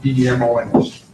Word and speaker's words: Demons: It's pronounced Demons, D-E-M-O-N-S. Lemons with a D is the way it was explained to me.